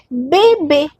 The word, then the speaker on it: bébé: Next we have été été été summer été Next we have bébé bébé The sound is a no, so this is bébé.